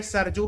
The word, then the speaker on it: Saryu: So your options are Ganga, Gomti, Saryu, Gandak. What is the right answer? River that passes through Ayodhya. The right answer is Saryu River. कहीं कहीं पे सरजू भी लिखते हैं, ठीक है?